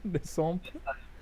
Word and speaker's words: Le Simplon: Can you pronounce this for me? Maybe Ryan's going to do a better job. Les samples. Le Simplon. Yes. Okay. This is it. This is an okay pronunciation. Le Simplon.